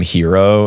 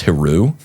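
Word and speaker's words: Hiroo: The the guy's name I kept calling him hero in the in the story. I'm pretty sure is pronounced Heru.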